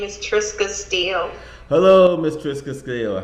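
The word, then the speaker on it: Trisca Steele: say the name correctly because i'm prone to mispronounced names what is your name young lady my name is triska steele hello miss triska scale how are you doing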